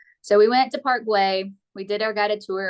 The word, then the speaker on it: Güell: Park Güell, Guell, but it's pronounced Güell.